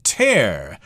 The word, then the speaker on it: tear: of unusual here because the word tear te AR could also be pronounced ter that's when you take a piece of paper and you rip it in half you tear the paper but that's the same spelling but it's a different word this is tear here